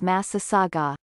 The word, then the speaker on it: Massasauga: where to find misaga massasaugas have a wide range with varying habitats the animal's name comes from a chippewa word translated as great river mouth with the pronunciation of massive saga distribution ranges from the